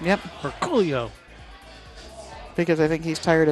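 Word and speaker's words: Orcullo: And for those of you who don't know, it's Orculio. And that is exactly how Dennis says it. Because we asked, hey, Dennis, three Derby cities ago, how do you say your last name? And then with enthusiasm. Orculio is exactly how he said it. Yep. With that emphasis.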